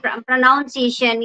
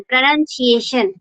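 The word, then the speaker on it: pronunciation: word is प्रोनाउन and mostly people से प्रोनाउंसिएशन या प्रोनाउंसिएशन बट इज़ इट इज प्रोनाउंसिएशन प्र none prawn none that is इन the church we कैन से a prawn प्रोनन्सिएशन and when we speak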